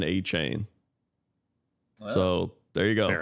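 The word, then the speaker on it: Achane: name on the Dolphins people are saying Devin uh a chain or something but he said it's pronounced Devin a chain so there you go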